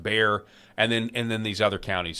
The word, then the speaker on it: Bexar: The winner is, at the very least, is unknowable based on the election fraud that we found in Bexar County, spelled Bexar but pronounced Bear, and then these other counties.